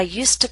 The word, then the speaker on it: used to: When it's followed by a consonant sound, we do not pronounce used to with a full vowel sound. To becomes t. I used to practice regularly. I didn't used to complain so much.